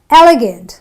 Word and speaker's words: elegant: Elegant. So I don't say elegant or elegant, I say elegant. This is a short, concise, elegant. So the gets, you pronounce it very quickly.